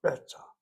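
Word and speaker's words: בטח: But beta is one word, one syllable.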